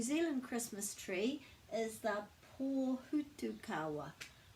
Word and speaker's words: pōhutukawa: So our New Zealand Christmas tree is the pōhutukawa. Pōhutukawa. Pōhutukawa. Lots of people say pahutakawa, but it's actually pronounced pōhutukawa.